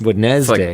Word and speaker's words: Wednesday: Dude, imagine no one told you how to pronounce it and you had to read that word. Yeah. It's Wednesday. like colonel. Yeah, there's no way you'd say Wednesday.